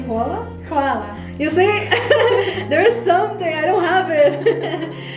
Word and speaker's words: hvala: There's no way I can actually pronounce it the way they actually do it. Can you say hvala? Hvala.